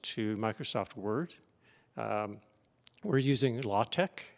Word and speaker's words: LaTeX: Microsoft Word we're using law tech it's also called pronounced lay tech but it's spelled latex I warn you to